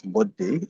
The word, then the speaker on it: buddhi: One is buddhi and the other is chitta. So the first one is buddhi. Buddhi means so even within the Sanskrit word of buddhi, there's like two syllables, bo and di.